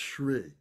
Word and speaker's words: Shri: That's pronounced Shri.